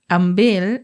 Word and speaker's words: ambil: with a k at the ends as we pronounce it in spoken Malay ambil with L is the proper Malay MC a